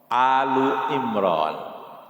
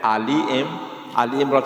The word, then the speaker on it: Alu Imran: Padahal Al di situ itu Al dalam arti keluarga Imran, Alu Imran. Tapi kita membacanya Ali Imran, seakan-akan Ali seperti Ali bin Abi Thalib, Ali Arifin, Ali siapa, sehingga Ali menjadi Ali nama, padahal itu Alu Imran, keluarga Imran.